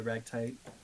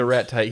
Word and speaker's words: ratite: Kevin is a ragtite. You ever seen Urban Rescue Ranch? Yes. He's a fun. You know Kevin, right? The white one. Yeah, I've cured Kevin's aggression. I mispronounced. He's a ratite.